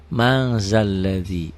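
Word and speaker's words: مَن ذَا الَّذِي: Tulisannya man ditulisnya, nggak ada g-nya, ditulisnya, dibacanya ada g-nya. Jadi mang zalladzi.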